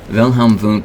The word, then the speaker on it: Wilhelm Wundt: Wilhelm Wundt is a German guy, as you might expect, because I'm pronouncing his W's like V's.